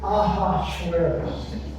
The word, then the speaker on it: Ahasuerus: The pronunciation of the king in this story is Ahasuerus.